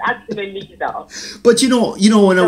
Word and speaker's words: Leiza: Everybody pronounces it as Leiza. It's actually spelled that way. Yes. But it's actually Leiza.